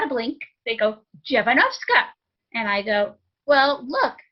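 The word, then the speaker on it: Dziewanowska: name and there's not a blink they go javanovska and i go well look at my name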